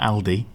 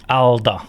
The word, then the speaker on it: Alde: It's not Aldi. No, it's Alde. Alde. That's how the Swedes pronounce it.